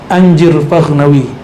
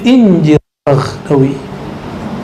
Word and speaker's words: Anjir Faghnawi: Mahmud kalau orang Arab bacanya Anjir Faghnawi, seperti mereka baca Anduni. Tapi kan anak alay sekarang kalau baca Anjir gimana ya? Makanya di teks yang lain ketemu Injir Faghnawi.